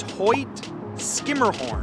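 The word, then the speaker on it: Hoyt–Schermerhorn: you would be incorrect the proper pronunciation is Hoy skimmer horn and I have even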